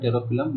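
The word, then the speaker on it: Pterophyllum: टेरोफिलम, इसका प्रोनाउंसिएशन ये होता है टेरोफिलम, लेकिन यहाँ पर टेरोइप्सम जाने क्या क्या कर रखा है जो मुझे भी समझ में नहीं आता।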